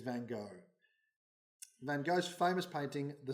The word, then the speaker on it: Van Gogh: So I asked Johannes Kunan, a Dutch man in our morning service. He assures me it is Van Gogh.